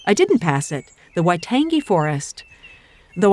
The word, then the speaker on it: Waitangi: didn't pass it the Waitangi forest though I am told is a soft G so the name sounds kind of like describing the reason I might love a tasty morsel i tangy waitangi it's just me this